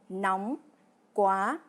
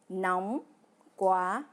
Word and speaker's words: nóng quá: Une variante souvent utilisée par les Vietnamiens, c'est nóng quá, pour dire il fait vraiment trop chaud. Cela se prononce exactement nóng quá.